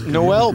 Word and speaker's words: Noël: calling him Noah Brinegar know it's easy it's Noel but I know yeah easy for you Alex